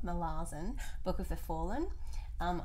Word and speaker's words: Malazan: second in the malazan as i've learned how to say it now molassen book of the fallen